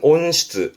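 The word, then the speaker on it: 温室: 발음은 온시츠, 온시츠.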